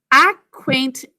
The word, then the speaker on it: acquaint: Acquaint ants. Let's say that again. Acquaint ants. 3 syllables. That first syllable, ac, we think to spell a silent C there. So ac is ac, basic code.